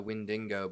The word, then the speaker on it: Wendigo: There's a few pronunciations of Wendigo. The one I'm choosing to use is Wendigo. I think you had a different one, Marty, you were using. Yeah, the Wendigo, but that was influenced by Supernatural, so I wouldn't